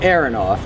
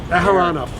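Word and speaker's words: Aharonov: as we're speaking uh when you say Areronov I would pronounce it Aaranov all right Aharanov Yaka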